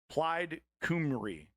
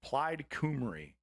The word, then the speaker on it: Plaid Cymru: Plaid Cymru is how it's said anyway. Plaid Cymru.